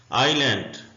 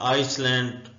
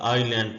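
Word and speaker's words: island: उसको आइलैंड बोलते हैं इसको भी अक्सर बच्चे आइसलैंड प्रोनाउंस कर रहे होते हैं जो कि गलत है यह आईलैंड पढ़ेंगे बिस्मिल्ला रहमान रहीम साइलेंट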